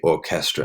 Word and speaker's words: orchestra: with music, all right, words that come from Greek, we just pronounce it like k, right? Like orchestra, we say orchestra, not orchestra, orchestra, okay?